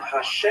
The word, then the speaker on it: Hashem: And the word Hashem of course is pronounced with the letter H.